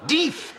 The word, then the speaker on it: Death: do death that's correct it's pronounced de de you understand it's an old family name I didn't want to